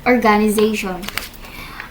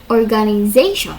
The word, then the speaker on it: organization: So example is you the word organization. um with stress on the second syllable even giving its vowel the American ae sound instead of listed pronunciation organization with primary stress on the fourth syllable secondary stress on the first and a weak vowel for the second syllable which may even be omitted.